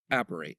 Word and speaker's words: Apparate: Appar Apparate.